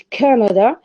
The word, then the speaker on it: Canada: which we have canada we have the word canada in which stress is on the first syllable and this first syllable is going to lose its stress because it's going to be reduced since it loses its stress the vowel is also going to be reduced to shiva so when we have